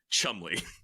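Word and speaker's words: Cholmondeley: in you know typically entertaining fashion it's actually pronounced Chumley the Martian of Chum spelled like shimay um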